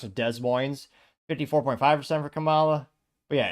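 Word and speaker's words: Des Moines: de or if you don't know how to pronounce it Des Mo 54.5% for Cala but yeah every other City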